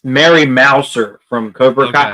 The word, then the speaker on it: Mouser: I was saying Moser, and like people were like, "It's wrong." I'm like, "What do you mean it's wrong? That's how it's spelled." And they're like, "No, it's Mouser."